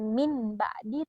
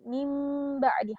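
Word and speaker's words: من بعد: Contohnya ambiuni, bukan anbiuni tapi ambiuni, atau mim ba'di, mim ba'di, bukan min ba'di tapi mim ba'di, harus ditahan dan melebur ke dalam huruf ba.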